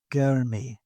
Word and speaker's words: गर्मी: Arch bot Gurmy with a bit of a And roll then R.